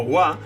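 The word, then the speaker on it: は: de qué estamos hablando, que es esta pronunciada como wa, sigue estando en el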